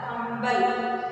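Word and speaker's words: कंबल: Kambal. Shall we write? After the dot, what is the pronunciation of this sound? Ka, im, bha, la. Kambal.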